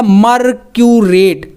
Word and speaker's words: मर्क्यूरेट: तो Hg मतलब कि क्या है, ये मरकरी है, तो यहाँ पर आप 8 जब जोड़ेंगे तो कैसे ये बनेगा, इसका उच्चारण बनेगा मर्क्यूरेट, मर्क्यूरेट, क्योंकि 8 आपको यहाँ पर समझ में